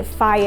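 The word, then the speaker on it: Fage: I like the eCos and I like the fire as how this one's pronounced apparently the fat-free Greek yogurts because these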